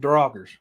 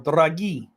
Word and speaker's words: draugr: And this is one of the oldest reports in the Norse reign of encountering Draugrs. Now, it's either Draugr, Draugr, or Dragi. There's a couple different pronunciations with this.